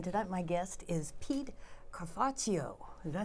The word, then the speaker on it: Cafarchio: I'm Laurie Lawson, and tonight my guest is Pete Cafarchio. Did I say it right? Yes, you did, Laurie. All right, Cafarchio.